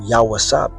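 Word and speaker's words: יוסף: As you understand the history, our forefather Joseph all right, or Yawawsap, that's how you would say his name in the Hebrew, okay?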